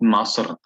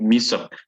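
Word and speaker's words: مصر: Now, yes, you will find, especially when you find Egyptians, then they will talk about Masr. Some of them will pronounce it in this way, but the proper way is Min Misr.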